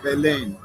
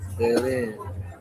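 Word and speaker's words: Belén: Belen is actually how you pronounce it. Yeah, I thought that's how you pronounce it. It's accent on the second E. Belen.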